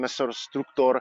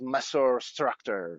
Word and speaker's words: Maessorr Structorr: the band appeared, and basically it comes from Latin because original Latin pronunciation Maessorr Structorr means the ant species. While we said okay for Anglo-Saxon environment, we should call it Maessorr Structorr.